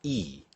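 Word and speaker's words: 이: So the number 2 is pronounced e.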